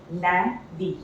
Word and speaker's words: lundi: Lundi. UN is a nasal sound, so it is lundi.